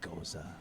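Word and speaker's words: Gose: And every time somebody says differently, he always goes, "It's Goza."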